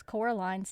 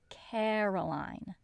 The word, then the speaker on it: Coraline: they also always mispronounce coraline's name it's coraline not caroline in the flat above